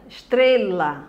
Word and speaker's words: estrela: com certeza aí no estrela estrela você diz o que estrela onde é que tá a silva forte bem no meio aí não é três